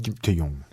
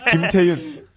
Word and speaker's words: 김태윤: 김태윤 감독님을 만나뵙도록 하겠습니다 발음 제대로 하셔야 돼 김태윤 감독님 김태용 김태윤 2부에서 김태윤 감독님 에헤